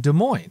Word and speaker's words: Des Moines: It's like DSM, which is their airport code in Des Moines.